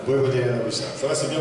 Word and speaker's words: Vojvodina Novi Sad: Et puis vous avez commencé en fait à 18 ans à jouer en professionnel à Vojvodina Novi Sad. Vojvodina Novi Sad. Ça va, c'est bien prononcé là.